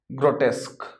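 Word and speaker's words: grotesque: देखिए प्रोनाउंसिएशन क्या है इसका हमारे पास, ग्रोटेस्क।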